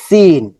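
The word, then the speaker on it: سين: যদি আমরা মাখরাজ দেখি সিন সিনের মাখরাজ হচ্ছে যেহবার আগা সামনের নিচের দুই দাতের গোড়া ওযে এর মতই সি চিকন সাউন্ড হবে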